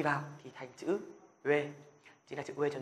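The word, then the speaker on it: ㅚ: Ôi, đúng không? Rồi. Nhưng mà tiếng Hàn thì không phải là ôi đâu.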